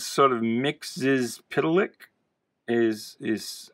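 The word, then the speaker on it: Mxyzptlk: As a kid, I pronounced this Mixtlefix, even though there's no F in there.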